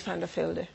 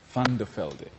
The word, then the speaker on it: Van de Velde: Beatrice Van de Velde. Van de Velde.